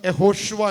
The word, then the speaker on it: യഹോഷ്വ: ജോഷ്വയുടെ പുസ്തകം ജോഷ്വയുടെ പേരെന്താ യഥാർത്ഥത്തിൽ ജോഷ്വ എന്നല്ല ഹെബ്രായ ഉച്ചാരണം യഹോഷ്വ എന്നാണ് ഹെബ്രായ പുസ്തകത്തിൽ അതിന്റെ ഉച്ചാരണം